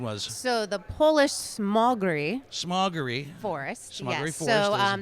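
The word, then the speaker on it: Smogóry: What do we decide the proper pronunciation was? So the Polish Smogry Forest.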